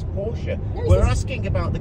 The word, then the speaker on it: Porsche: Right, Dominic, is it Porsche or Porsche?